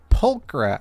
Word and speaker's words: Pulchra: Bernice will actually say her name, and that made me realize I've been saying her name wrong this entire time. Why did no one correct me? So, anyways, yeah, Pulchra.